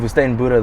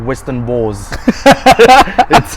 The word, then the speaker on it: Woestijn Boere: So instead of saying Woestijn Boere, they'll be like Western Boers.